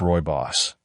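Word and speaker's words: rooibos: Roy Boss, pronounced Roy Boss, a red tea native to South Africa, is caffeine-free and packed with flavonoids that protect your skin's collagen.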